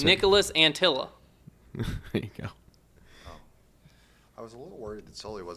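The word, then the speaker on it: Anttila: The vowels across the name are all pronounced the same. That's how that's how you know how to how to pronounce it. Nicholas Antilla.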